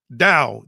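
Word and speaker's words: Tao: Dao, that T is pronounced as as a D and I've been mispronouncing it.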